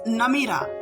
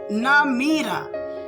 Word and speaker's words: Namira: Its pronunciation is Namira, Namira.